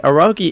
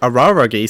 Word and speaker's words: Araragi: Aragi is ready. Araragi, sorry. I got the name wrong. There's an extra R in there.